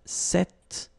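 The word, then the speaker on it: cet: it's quite interesting because if you listen carefully the masculine form here set and The Feminine form here set you write them differently but then you pronounce them the same way all right for the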